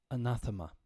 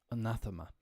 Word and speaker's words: anathema: pink are like oh no how do I pronounce this but of course we have the phonetic use under here anathema anathema and often this is a very very interesting